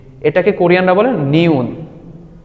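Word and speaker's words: 니은: না এটাকে কোরিয়ানরা বলে নিউন নিউন নিউন এইটার মূল উচ্চারণ হবে ন তারপর আমরা যেটা দেখতে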